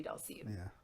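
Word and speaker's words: Dhalsim: That's another one that it took me a substantial amount of time to realize that it was supposed to be Dulcian.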